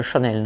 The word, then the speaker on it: Yanel: Et les Argentins, quand ils parlent espagnol, les ya, ils les prononcent che, tu vois, ça chouette. Donc elle prononçait son nom Chanel.